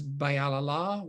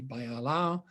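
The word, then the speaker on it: Баярлалаа: with brush and that says bayalala which is pronounced actually by alao it means thank you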